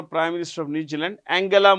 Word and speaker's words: Angela: minister of New Zealand Angela Merkel not Angela Angela Angela Merkel former chancellor of Germany